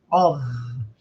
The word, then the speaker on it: of: Cuidado com a pronúncia, que não é pronúncia de F, é pronúncia de V, of, né?